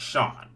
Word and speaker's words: Sean: too many to name my name is pronounced Sean okay like Shawn Michaels okay I'll try to